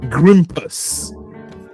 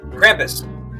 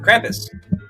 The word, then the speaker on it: Krampus: You're using a hard G. Bro, you're using a hard G and I'm using a hard K.